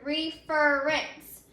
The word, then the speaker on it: reference: So let's say that word, reference. So our accented syllable moved in the word reference after we added that suffix.